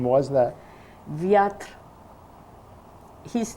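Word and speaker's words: Wiatr: Viatr. His name was Leon, and mine was. This is the name. How do you spell that last name? The last name, Viatr, W-I-A-T-R.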